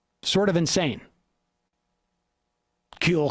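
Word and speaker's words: Kühl: it's sort of insane kill coats am i pronouncing that right kewl that's the one i have um has thousands of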